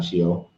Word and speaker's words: Sheol: You said it right the first time, Sheol.